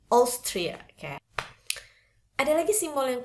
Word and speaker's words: Austria: Simbol ini biasanya diproduksi oleh atau bisa diucapkan pelafalannya oleh huruf-huruf O. Beberapa itu oleh huruf A. Contohnya pada kata Austria. Oke, bukan Austria bacanya tapi Austria.